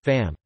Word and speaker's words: femme: marked differently in spelling, e.g. femme, femmes, woman, women, both pronounced fam.